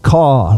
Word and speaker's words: Koch: fit their pronunciation so so they pronounced it kaw like a crow CAW Fred call that's the